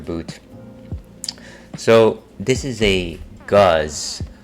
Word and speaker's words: Gose: So this is a guz. It's not a gose, as some people might say. It doesn't rhyme with Jose.